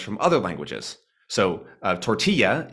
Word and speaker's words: tortilla: other languages so uh tortilla in many accents of English is pronounced sort of similar to how it sounds in Spanish with the Double L which would be normally a l sound being more of a y sound tortilla same with the the